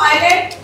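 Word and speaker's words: island: आवाज नहीं आ ओके ऐ से साइलेंट वर्ड या भूत वर्ड याद रखने भूत दिखता है नहीं दिखता इसी तरह ये दिखता है लेकिन इसका आवाज नहीं निकालते ओके सो इट फम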